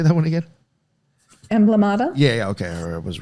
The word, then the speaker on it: Emblemata: Emblemata?